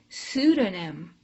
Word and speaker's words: pseudonym: silent another word where the p is silent is pseudonym it sounds like an S so you can see